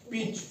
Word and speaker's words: pitch: उसके बाद PITCH, पिच, इस यहां भी CH से पहले टी है, इट मींस टी यहां साइलेंट हो जाएगा, ठीक है।